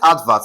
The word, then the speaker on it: advert: This is to tell you that you have to stress advert, assuming advert is a noun. Okay? For cases like this, you have to assume it's a noun and you stress the first syllable.